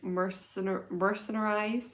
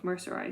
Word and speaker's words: mercerized: It is 100% mercenarized. Is that how you pronounce this? No, it's mercerized. There's no N.